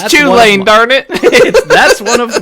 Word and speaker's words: Chulane: The example I gave to Ryan when we were talking about before the show is Hullen or Chulane, or however you want to pronounce it.